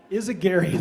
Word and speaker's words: Izaguirre: we have uh Stephanie and I forgot the pronunciation of your last name I'm embarrassed is aary thank you I should have had that known